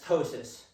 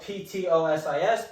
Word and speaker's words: ptosis: So the first one, no eyelid elevation is going to be known as ptosis. I know it's spelled P-T-O-S-I-S, but that's what it is, ptosis.